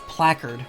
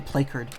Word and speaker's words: placard: of the academy's founder oh it's placard i actually didn't know how to pronounce that where i kept saying play curd that name it was